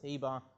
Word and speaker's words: Eber: the New Testament where Eber is pronounced Heber. And that's where we get the term the Hebrews from, okay? Not to say that everybody born of Eber was a Hebrew.